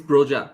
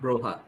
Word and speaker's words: Broja: See, he's Broja, not Broha.